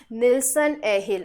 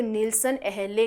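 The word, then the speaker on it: Nilsson-Ehle: plant breeding के अंदर that is अ निलसन एहिल और अगर इंग्लिश में प्रोनाउंस हम लोग करेंगे तो निलसन अहले करेंगे ठीक है निलसन एहिल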